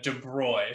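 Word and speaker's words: de Broglie: uh french uh uh mathematician and physicist uh de broy so that's how you pronounce this uh word there uh that's his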